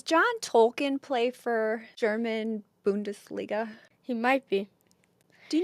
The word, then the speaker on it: Bundesliga: Bundesliga? Yeah. That's correct. Between 5 years between Bundesliga and the Danish Super League in Denmark. Yeah. Okay. Okay. Is does John Tolkien play for German Bundesliga?